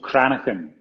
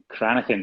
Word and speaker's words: Cranachan: It's called Cranon. Cranin. Cranon.